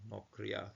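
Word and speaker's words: נָכְרִיָּה: So nokriya. And this is a closed syllable, so we're going to have this as a common satuv here. Nokriya, as a foreign land, a land of foreigners.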